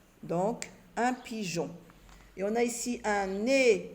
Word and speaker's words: pigeon: Le E s'écrit mais ne se lit pas. Je l'écris seulement pour lire J et non G, quand c'est suivi de la lettre O. Donc, un pigeon.